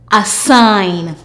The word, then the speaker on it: assign: A s ein assign.